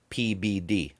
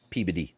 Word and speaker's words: Peabody: a medium-sized town that spelled Peabody but it's pronounced pbd pbd yeah so um content oh god well you're